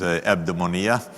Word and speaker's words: eudaimonia: The idea for me is the economy of eudaimonia, or I think the right pronunciation is eudaimonia, in the way that Aristotle would have said it.